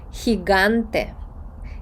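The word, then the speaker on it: gigante: Так геню є смішне слово гігант буде хіганте хіганте бачите тут збілося у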